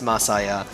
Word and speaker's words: Masaya: It's Masaya. Messiah. You're putting stress on the middle syllable. You're not supposed to do that.